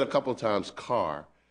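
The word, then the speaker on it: Kerr: Now, by the way, you've said a couple of times car. Is that the North Carolina pronunciation of cur? Yes. So you're referring to K-E-R-R? Yes, that's how we pronounce Okay, it.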